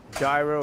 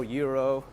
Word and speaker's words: gyro: Elizabeth Ann saying the G in gyro is actually pronounced like a Y. Yeah, that's the Greek pronunciation, but the American pronunciation, they try to pronounce everything the way it's spelled. Gyro, Euro.